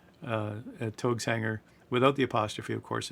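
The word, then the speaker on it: Taogs Hangar: T A O G uh uh Togs Enger without the apostrophe, of course, in the URL and then {slash} manuals.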